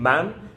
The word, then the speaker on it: man: difference in pronunciation between man and men good question okay so man man man is singular one man I am man ma the vowel goes differently ma an man plural two men met a men met